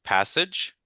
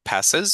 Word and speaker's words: passage: So the first one was passage. I think you might have said passes.